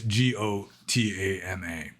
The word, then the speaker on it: Gotama: the Pali language, it's Gotama. And it's almost the same because, like, for example, the Burmese pronunciation of the letter O is essentially like AU. It's a diphthong, O. Gautama.